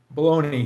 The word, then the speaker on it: bologna: Baloney here, yep. We always pronounce it like I had an I on the end, but it's GNA.